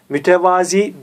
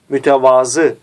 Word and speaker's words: mütevazı: Zararına mütevazi değil mütevazı olacak. doğrusu mütevazı şeklinde telaffuz edilmesi gerekiyor.